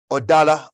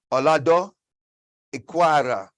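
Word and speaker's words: Olaudah Equiano: Instead, the subject was revised and to teach about the abolition, William Wilberforce and Odala, or let's pronounce it right, Olado Equano.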